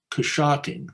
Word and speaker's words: Coshocton: Now Coshocton is how David Zeisberger, who's a native German, writes it, but English speakers pronounced the word, and this is known at the time, they pronounced it Coshocking or Coshocking or Coshocking.